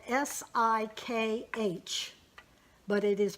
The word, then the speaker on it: Sikh: of us this when I say Sikh it is spelled sik H but it is pronounced Sikh Sikhism is a